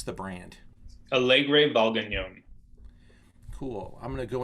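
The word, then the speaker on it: Alegre Valgañón: about this category um john how do we pronounce the brand alegre valdenon cool i'm going to go into our powerpoint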